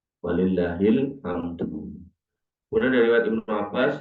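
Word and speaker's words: ولله الحمد: Allah Akbar, la ilaha illallah, Allah Akbar, walillahil ham, bukan ilham. Walillahil hamdu.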